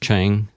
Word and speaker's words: Chang: So recently, both of you guys, along with Curtis Chang, is that correct pronunciation? Yes, Curtis Chang, yes.